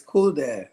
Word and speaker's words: CoolxDad: Because I know there's a cool, and then there's an X, and then there's a dad. And so I didn't know how I was supposed to say No, that. Did I say it right? it's cool, Dad. It's Cool, dad. as simple as possible.